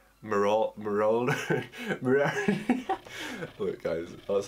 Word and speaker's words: Marauder: Marauder.